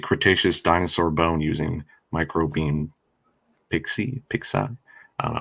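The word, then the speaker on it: PIXE: The E is silent anyway. It's Pix.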